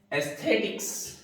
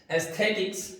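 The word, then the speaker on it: aesthetic: हो उसको कहते हैं एस्थेटिक्स। एस्थेटिक्स यानी सौंदर्यवाद, सौंदर्यवाद। इसके दोनों प्रोनाउंसिएशन है, एस्थेटिक भी है और एस्थेटिक भी है, दोनों प्रोनाउंसिएशन इसके एक्सेप्टेबल है, एस्थेटिक्स, एस्थेटिक्स।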